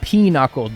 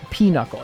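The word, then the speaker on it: pinochle: It's not peuckle, dude. Like two words. It's peuckle. It's like p I don't know how you spell it. It's like P I N U C L E.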